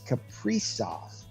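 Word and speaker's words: Kaprizov: build on moving forward yes we did get the pronunciation correct it is capricious that's what he's going with so that'll probably change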